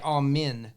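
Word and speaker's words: אמן: from well so in in Hebrew you don't say Amen you say you say am men and it's spelled a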